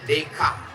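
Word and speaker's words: Descartes: Des chares pernah dengar cara membacanya Dek Jan Nanti kalian bilang menurut desartes itu cara bacanya dek karena Perancis itu tulisannya nya beda sama cara membaca tulisannya bonsoir cara bacanya bons Selamat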